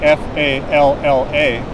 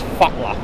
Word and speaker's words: falla: So when you see 2 L's, it's not L, it's TL. Okay. So to fall in Icelandic is spelled F-A-L-L-A. Okay. Looks like English fall with an extra A. Falla. Yeah, but it's fatla.